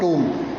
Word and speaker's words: tomb: The cramped rock cut टूम। वे लोग, जो टूम था, जो मकबरा था, TOMB, टूम इसका उच्चारण है, टॉम्ब नहीं बोलेंगे इसको, टूम, जो रॉक कट